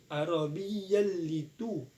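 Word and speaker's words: عربيا: Arabiyyal itu. Jadi cara bacanya idgham bila guna. Di kita sini adalah cara bacanya sebab bertemu huruf fathatain dengan huruf la. Cara bacanya langsung dimasukkan. Arabi tidak dengung. Arabiyalitu.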